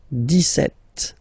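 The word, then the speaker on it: dix-sept: Okay so it's clear but then for the pronunciation deset. Okay so you don't insist on the deset deset deset. Okay then so you will make this little link between the two the leaz.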